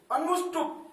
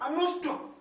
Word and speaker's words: अनुष्टुप: अनुष्टुप, अनुष्टुप। यहां पर बीच में देखो अष्ट का उच्चारण आ रहा है।